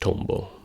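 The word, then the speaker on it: Tombow: I believe it's pronounced Tombo, which means dragonfly in Japanese.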